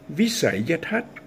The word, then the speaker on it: visayathat: Thai people usually say visayathat, visayathat, but actually the right pronunciation should be visayathat.